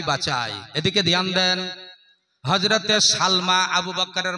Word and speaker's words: সালমা: আবু বকরের নাম হচ্ছে, মায়ের নাম হলো হযরতে সালমা। জোরে বলেন নাম কি? সিন লাম জবর সাল, মিম খারা জবর মা।